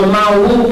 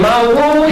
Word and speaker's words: Mawu: Now I want to move to the Mawu principle. I call it the Mawu principle. And Mawu is a term that we get from the